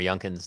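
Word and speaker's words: Youngkin: And, uh, we've had a number of pronunciations of of Governor Yncan's name today.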